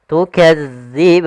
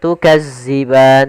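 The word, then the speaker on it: تُكَذِّبَانِ: Tukadziban. Hati-hati dalam melafalkan huruf dal karena di sini bukan huruf za. Jangan tukazziban tapi dia tukadziban.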